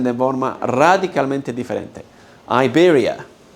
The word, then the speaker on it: Iberia: Iberia. No es Iberia. No hay una A, no hay una I.